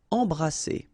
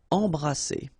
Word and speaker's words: embrasser: Alright, E-M here, and then you've got a consonant after, so you get the nasal en. So you don't hear any M, it's really in your nose. Embrasser. Alright, and then double S here, it's S. Embrasser.